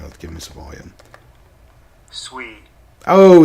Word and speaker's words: Sui: Okay, we'll say Sway. Or, I'm sorry, Sui. Not Sway. Sui.